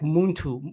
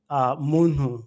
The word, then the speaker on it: muntu: Banyamulenge use, they say like Muntu with an emphasis on the last three letters and TU, but the Banyarwanda or Rwandans will pronounce it differently. They will say Muntu.